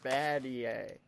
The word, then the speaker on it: Battier: That's not how you say it. It's Shane Battier. Not Battier.